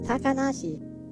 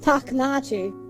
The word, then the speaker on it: Takanashi: characters sing their name which in japanese is takanashi and she goes on and says taknachi and i'm like what the what what are you doing no no so